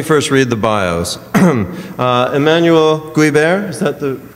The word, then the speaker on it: Emmanuel Guibert: but let me first read the BIOS uh Emanuel guber is that the correct pronunciation perfect okay I was an opair in